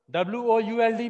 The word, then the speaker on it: would: if we would have would. A long l remain silent here would. L will be silent here would. L को बोलना नहीं है w o u l d में l को pronounce नहीं करना would.